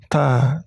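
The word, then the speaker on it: ت: Ta. Jadi cara membacanya sedikit dikeluarkan angin di ujung lidah.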